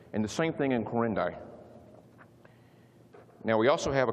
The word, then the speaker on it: Quirindi: That's how that's pronounced, Quirindi.